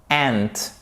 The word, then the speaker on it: aunt: My aunt, ça se prononce exactement. Donc c'est comme ceci en phonétique. Comme la fourmi. Ant.